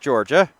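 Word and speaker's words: Jorja: Looking at the spelling once again, just to confirm. J-O-R-J-A, you pronounce it Georgia.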